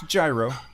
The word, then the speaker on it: gyro: see what is the proper way to pronounce gyro its gyro okay I thought they